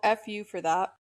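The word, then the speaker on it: FU4That: The single's called FU for that. It's spelled the letter F, the letter U, the number four, that.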